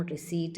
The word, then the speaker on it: receipt: It is silent in words like cupboard, pneumonia, salem, receipt, etc.